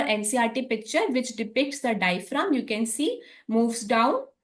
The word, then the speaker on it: diaphragm: Okay, so the diaphragm, here G is silent. The pronunciation of diaphragm, here you can see that I am not making any emphasis on G. So G is silent here. Diaphragm.